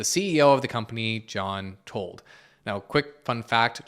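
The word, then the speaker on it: Tuld: of the company John told now quick fun fact John told actually rhymes with Richard fold who was the last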